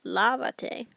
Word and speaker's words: lávate: That's 3 syllables. So I'm going to have to add an accent. Now, if I'm looking at the verb lava, lava, the next to last syllable is this first A. So that's going to get my accent.